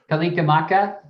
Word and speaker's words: Kalikimaka: Kalikimaka?